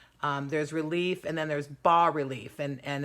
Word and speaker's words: bas: relief and then there's bar relief and and it's print it's spelled bas but it's pronounced BA what's a bar relief